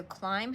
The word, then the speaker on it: climb: words climb and through so climb has a silent letter here you don't hear this B you can hear all